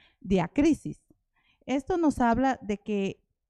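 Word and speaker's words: διάκρισις: el numeral G 1253 que se pronuncia diac crisis esto nos habla de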